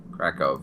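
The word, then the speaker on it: Kraków: no we're keeping kov krackov right sorry I forget the W's are like pronounced like V's yeah actually you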